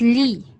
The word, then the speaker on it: Lý: This one, you pronounce this as Li. And this is Le.